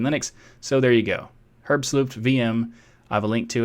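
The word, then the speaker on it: herbstluftwm: the way I say herb solute VM and not WM because it's a german word or a german project and the name is german so the pronunciation is vm and they asked me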